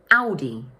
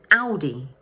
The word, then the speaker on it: Audi: The first syllable is pronounced ow, and the second one is pronounced d, with the stress falling on the first syllable. So in English, we say Audi, Audi.